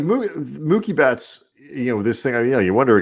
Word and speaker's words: Mookie: No, he's saying Mookie now, but he was for a very long time saying Mucky Betts. Mucky Betts. I mean, we should have just kept him saying that and never told him that he was saying it wrong because that's way funnier.